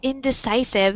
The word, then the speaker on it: indecisive: Okay, so but yeah, nice pronunciation there with that word indecisive, and I wrote the pronunciation there in the chat box. You see where the syllable stress is. Indecisive.